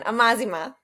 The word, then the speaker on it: Amazima: Amazima.